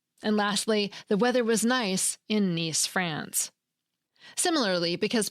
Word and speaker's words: Nice: And lastly, the weather was nice in Nice, France.